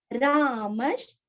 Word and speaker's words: रामः: रामश, रामश, विसर्ग का उच्चारण श, आधा श। क्यों आया है श, क्योंकि आगे श्र आया है।